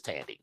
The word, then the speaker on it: Thandie: like that so it's so like her name is 10 deeway i think that's it okay but the white south african pronunciation of it is tandy tandy okay but that woman